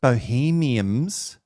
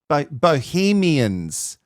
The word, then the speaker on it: bohemian: Bohemiums. Bohemiums. Bohemians. Bohemians. Wait, now I'm questioning. Have I been saying it wrong? It's bohemian, right? It's bohemian. It's bohemian. It's not bohemium.